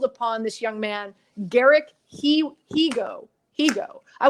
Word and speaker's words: Higgo: this young man, Garrick Higo. I want to say Higo because it's Higgo, but it's Higo.